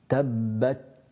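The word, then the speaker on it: تبت: air after it, then you can't hear the ta. And that's sometimes a mistake that certainly some reciters from the Indian subcontinent tend to make, because they don't have that burst of air, and therefore the ta is not audible.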